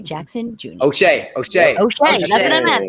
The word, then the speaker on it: O'Shea: It is O.J. Jackson Jr. O'Shea.